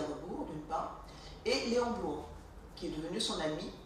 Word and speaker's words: Bloy: Léon Bloy, ça s'écrit B-L-O-Y. C'est pas comme la ville de Blois, B-L-O-I-S. Léon Bloy, c'est B-L-O-Y, même si ça se prononce de la même manière.